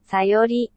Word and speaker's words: Sayori: How do you pronounce it? Natsuki? Sayori? Teach me. Natsuki, Sayori, Monika, Yuri.